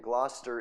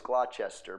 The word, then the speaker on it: Gloucester: time in Gloucester England see you thought it was Glouchester but it's not it's Gloucester I know because where I live or where I'm from we got a gler and it's spelled just like that so it's Gloucester right yep Gloucester England